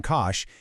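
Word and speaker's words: cosh: The only thing, literally the only thing that separates singe from kosh is a single minus sign.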